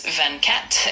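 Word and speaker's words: vingt-quatre: For number 24 in French, it's Vancat and it's spelled V I N G T u U A T R E.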